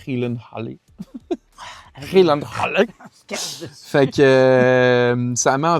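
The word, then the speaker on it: Gyllenhaal: Puis c'est la sœur de Jake Hillenh le monde il disent Gillen Hall mais j'ai vu en entrevue que ça se prononce Helen Han fait que ça met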